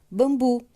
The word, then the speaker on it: bambu: Porém, a sílaba tônica está no bu. Ele não recebe acento, mas ele tem a pronúncia mais forte.